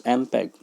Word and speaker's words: MPEG: MPEG, pronounced as MPEG, stands for Moving Picture Experts Group.